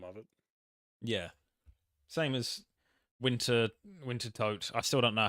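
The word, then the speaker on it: Wintertodt: Same as Winter Toad. I still don't know how to pronounce that. I think it's Winter Todd. Winter Todd. Just forget the second T.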